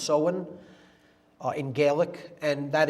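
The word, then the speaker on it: Samhain: fall is seen pronounced soen it looks like Sam Hayne in English but it's pronounced soen uh in gaic and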